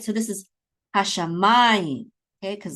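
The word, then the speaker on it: השמים: So this is hashamayim, okay, because the accent is on ma.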